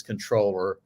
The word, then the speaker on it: comptroller: and so uh so actually uh the correct pronunciation is controller and and that's the way I say it